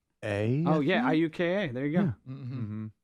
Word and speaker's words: Iuka: IUKA. Oh, yeah, IUKA. There you go. Mm-hmm. Right. Yeah. There you go. Most people go Iuka, but did- that yeah, would but be it's incorrect. Iuka.